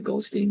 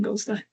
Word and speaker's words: Goldstein: Um, I'm giving that the German pronunciation, you know, Goldstein. Goldstein.